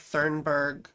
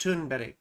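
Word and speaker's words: Thunberg: Now right Greta th it looks like thurg right she's Swedish she's a climate activist but I'm pretty sure it's pronounced tunb right anyway she was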